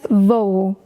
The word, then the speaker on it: voo: That's voo with two o's, no accent.